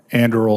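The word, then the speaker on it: Anduril: First of all, u, you're coming from Andreal Industries. Is that correct? Is that how you pronounce that? Andal Senator.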